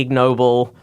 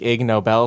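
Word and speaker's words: Ig Nobel: he doesn't like the ignoble prize that gets handed out every year oh is that spelled like ignoble sore yeah exactly yeah it's like a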